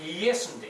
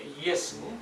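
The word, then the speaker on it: Ἰησοῦς: 마찬가지로 헬라어 발음을 J를 E로 발음하기 때문에 우리도 이제 예수님을 발음한 거예요. 헬라어는 이예수라고 발음한다고 합니다.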